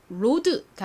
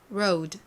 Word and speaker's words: road: 그리고 발음은 앞에 coat에서처럼 이 OA가 O 발음이 나니까 그냥 road가 아니라 road, road.